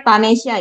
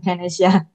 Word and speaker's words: Tanesya: Sekali lagi terima kasih dan nama panjang saya Tanesya ya bacanya bukan Tanesya.